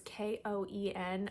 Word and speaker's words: Cohen: There are several different pronunciations, but it's Koen. I'm going to say Cohen.